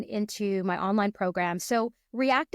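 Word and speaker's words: R3ACT: my online program so react is spelled a little differently it's spelled r with the number three a c t so when you look at it it is react but the R3 is there on purpose SO3 stands for my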